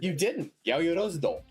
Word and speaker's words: Yaoyorozudo: Yaoyorozudo. You actually got it really, pretty much, maybe not the perfect, like, Japanese pronunciation. I mean, your pronunciation was good.